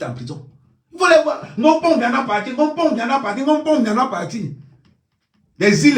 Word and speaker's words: Biya: Il faut prononcer bien le nom de Paul Biya. Non, Mpombia, Mpombia. Mpombia. On dit Paul, P-A-U-L, Paul, Mpombia.